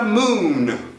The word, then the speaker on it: moon: vai lembrar dele aí em inglês você vai manter o n lá mo e você vai